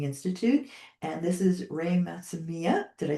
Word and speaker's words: Matsumiya: I am here with Ray, and I am Maria Kliavkoff from the Mourning Institute, and this is Ray Matsumiya.